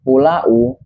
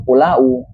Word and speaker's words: pulau: Walaupun dalam penulisannya itu pulau, tapi dalam pengucapannya itu kita tidak mengucapnya itu pulau, tapi menggunakan fonem W yaitu pulau.